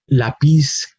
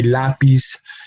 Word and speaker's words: lápiz: We do not say lápiz, we say lápiz.